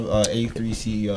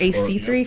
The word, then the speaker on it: A3C: So I wanted to, say you guys just came back from Atlanta A3C Yes. weekend. Yes. AC3 fam?